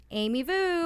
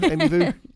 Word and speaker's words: Vu: I am host Jamie Ellis accompanied by Amy Vu. That's the best you can do, Amy Vu. That's the best. You know, voo just rhymes with everything.